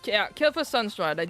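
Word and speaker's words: Kael'thas Sunstrider: Uh, Kelas Sunslider. I am saying that name wrong. Nope, it was Kila Sunstrider.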